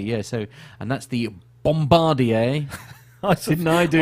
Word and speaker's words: Bombardier: Bombardier didn't I do I was expecting you to say bombarder B yes no I'm trying to be good I I've already you know in in the interest of of accuracy and trying to pronounce things correctly so it's a bombardier C Series yeah the uh